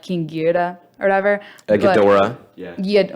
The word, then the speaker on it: Ghidorah: but- Ghidorah.